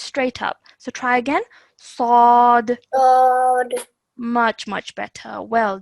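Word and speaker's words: ص: Okay, now remember yesterday we learnt that we have to pronounce this with a thick and heavy sound, but with no element of a w sound.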